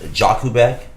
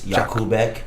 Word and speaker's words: Jakubek: You keep in English pronunciation is Jakubek. Polish it's Jakubek, but Jakubek is okay too.